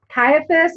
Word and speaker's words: Caiaphas: the motivations of each person you got Pilate Caiaphas is that how you say it - yeah